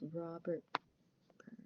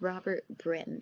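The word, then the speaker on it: Robert Brym: Byrne gives in the textbook of, I should pronounce it's Robert Byrne. Let me check. I've read the textbook, but it's good to check. So the example that the author gives, so it's Robert Brim, sorry.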